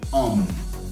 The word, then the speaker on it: homme: Cuando la H está al principio de la palabra es muda, entonces podemos decir homme o Henri.